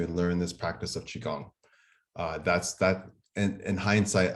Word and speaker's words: Qigong: saying that correctly and I've heard many different pronunciations of it I've heard everything from Qigong to Qui-Gon to so many different things but yeah it's chica it's Qigong and you're the expert